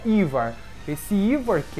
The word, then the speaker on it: Yhwach: um nome em alemão se chama ivar é um nome bem estranho né não tem nada a ver ali com o que se escreve mas se pronuncia ivar esse ivar que é